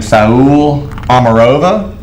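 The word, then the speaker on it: Saule Omarova: I would probably pronounce his name Saul Amarova. I believe that's correct.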